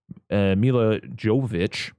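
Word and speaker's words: Milla Jovovich: And, they got, the thing is like, Mila Jovovich, I looked up how to say her name.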